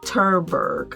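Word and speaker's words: Tverberg: her name is Lois terberg I believe I'm pronouncing that correctly it's spelled t-v-e-r-b-e-r-g you can look up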